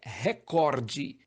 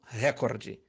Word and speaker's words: recorde: antes da antepenúltima sílaba no segundo caso a pronúncia correta é recorde e não recorde E por incrível que